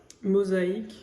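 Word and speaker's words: Mosaïque: Mosaque.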